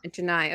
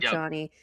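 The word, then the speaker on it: Johni Broome: broom oh yeah I is that how you say his name I've been saying yeah Janai okay not Johnny Janai I love ji broom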